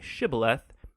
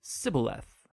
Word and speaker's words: shibboleth: pronounce the Hebrew word shibboleth it turned out that the ephraimites had grown up pronouncing that word differently so instead of saying shibboleth they would say sibileth when that happened the